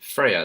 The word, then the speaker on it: Freya: Fer fer Freya Freya. It's not Frey. You don't try. Don't roll your tongue.